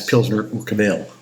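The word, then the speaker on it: Pilsner Urquell: one Pzner, and that's Pzner Ukabel or UK. I think the the uh the stress is on the first syllable in the Czech language.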